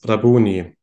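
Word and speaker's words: Rabboni: so this is the Aramaic word and this is pronounced as rabuni and is nowadays typically translated as Lord or Master sometimes also his teacher and for example in this case rabuni also has the same root as Rabbi for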